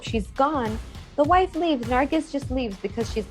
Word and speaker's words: Nargis: Exactly as Michael had said, we are following the story again of Samir and Nargis. Do I say Nargis or Nargi? Like is the S pronounced? Nargis. Nargis.